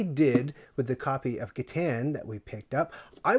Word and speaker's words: Catan: an extremely popular game i say kitan it's correctly pronounced katan but as a child